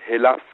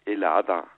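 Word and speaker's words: Ελλάδα: eine Umstand dazu äh dass Griechenland eigentlich in in Griechenland nicht als Hellas gesprochen wird sondern als elada also e l L A D A so jetzt nehme ich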